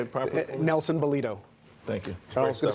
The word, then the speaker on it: Balido: Nelson Balido.